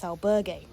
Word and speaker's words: albergue: Now, before anyone points it out, yes, I do realise I was mispronouncing the word albergue in the video clips that you've just watched. For some unknown reason, I was putting a slight French twang on the word. I don't know why that was.